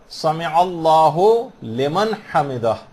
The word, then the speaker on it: سمع اللہ لمن حمدہ: عام طور پر لوگوں کو دیکھا گیا سمع اللہ لمن حمدہ یہ پڑھتے ہیں، اس کو ہو لمن نہیں ہے، سمع اللہ لمن حمدہ.